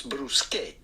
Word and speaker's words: bruschette: Now, in plural version, Oh, gosh. in Italian, an S, but No. transform the A at the forms bruschette. Several bruschettas, well, you would know bruschette.